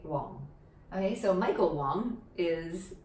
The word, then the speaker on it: Wong: this one is probably closest to how you pronounce it in cantonese as well because it's just the low tone wang right wong okay so michael wong is my chosen example